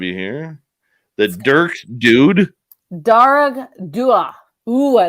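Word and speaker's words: Dearg Due: Darag Dua. Ooh, I like that. It has a pronunciation.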